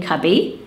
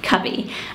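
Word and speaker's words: Cybi: Just going with it, because I think it's perfect for this list, and it's the name Cubby. So it's spelled C-Y-B-I, and it's Welsh, and it's Cubby.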